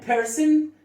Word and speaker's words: person: person الاو هنا مش هنطقها طبعا، هنطقها شورت اي. person.